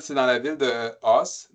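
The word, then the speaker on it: Ås: Non, Alors, on a été bon, dans la ville, c'est dans la ville de Os. Donc, le A, c'est un A qui est très grave, là.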